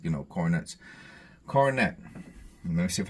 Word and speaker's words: Coronet: I was right corette so the second o is aw it's called the schw